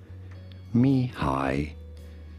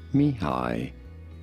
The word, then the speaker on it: Mihály: We are looking at how to pronounce this name, the name of this Hungarian-American psychologist. How do you say it? Mihály, Csíkszentmihályi. Mihály, Csíkszentmihályi. Cheek, sent, me, high. Mihály, Csíkszentmihályi.